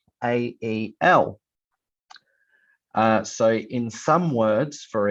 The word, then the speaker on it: Michael: So my name is spelt Michael.